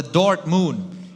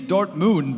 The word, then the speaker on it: Dortmund: a stop to that you kind of mispronounced it it's the Dort Moon it is Dort Moon the Destinies are nicely